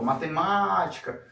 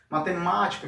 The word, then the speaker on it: matemática: Vamos falar então a palavra matemática como se estivesse chamando, ó, matemática, matemática.